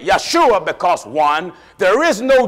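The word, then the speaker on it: ישוע: reason why they say yeshua because one there is no jays in the hebrew grammar joshua is pronounced in hebrew yeshua right yeshua is the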